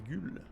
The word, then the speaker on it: gueules: Moi je prononce ça plutôt goule avec le U accent circonflexe dessus. Mais apparemment c'est des gueules.